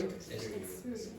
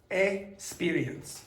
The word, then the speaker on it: experience: Experience. Yeah, so when you have that X, you have two sounds. So you have X, experience. If you listen to Victor, he says experience.